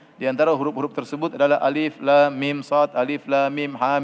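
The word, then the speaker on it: الم: Alif lam mim jangan dibaca alam, ya. Kemudian misalnya Sad, Qaf dibaca per huruf. Hamim, ya. Hamim, Alif, Lam, Mim, Sad, ya. Jadi dibacanya bukan sebagai kata, namun dibaca sebagai huruf, ya.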